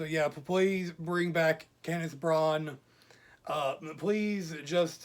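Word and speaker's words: Branagh: Yeah, Braun. Braun. Yeah, that's how you pronounce it. It's Kenneth Braun.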